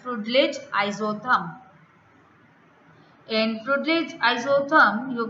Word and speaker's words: Freundlich: A graph you can see which the relation is been given with respect to the Freundlich, or we can say Freundlich, right? N is silent, Freundlich isotherm.